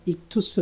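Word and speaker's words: ΙΧΘΥΣ: 5가지 철자가 기록되어 있는데 흔히 우리가 이투스 라고 발음을 합니다 이 물고기 표시 안에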